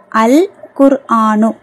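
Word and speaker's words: القرآن: next அல் குர் குர்ஆனு அல் குர்ஆனு ஏன் காப் வந்து கமரியாவுடைய எழுத்துங்கறதுனால லாம வந்து உச்சரிக்கணும் அல் குர்ஆனு நெக்ஸ்ட் அஸ்ஸலாத்து அஸ்ஸலாத்து பாருங்க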